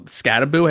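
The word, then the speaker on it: Skattebo: So they're going to have to control Scattaboo. Is that how you pronounce it?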